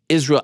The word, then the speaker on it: Israel: case you make say his name correctly it's Israel I disown you that's the name thank you